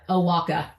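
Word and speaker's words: Oaxaca: Owaka. There, that's how you say it. Oh, cool. I had to remind myself of how to pronounce X's.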